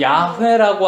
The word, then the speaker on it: 야훼: 그 Y가 먼저 나오고 H, W, H가 돼. 그래서 이걸 야훼라고 읽는 거야. 야훼.